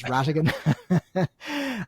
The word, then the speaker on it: Rhatigan: It's the silent H after the R is what's going to catch people out. It's like how you spell pneumonia. The P is silent. But in my game, it's the H. And I've been called Mr. Rhatigan on numerous occasions, but it's Rhatigan.